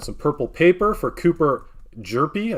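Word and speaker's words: Hjerpe: purple paper for Cooper Derpy I think the H is silent Lefty for the for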